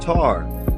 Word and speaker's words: Ta: They were called Ta, pronounced Tar, the African, which is the African pygmy today.